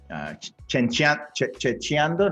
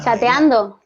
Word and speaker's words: chateando: Checheando, no, ¿cómo se dice lo que dicen la gente en how do you say it in Spain, Priscilla, when people are just chatting? No, Chateando. Chateando. Yeah, chateando. That's a good one.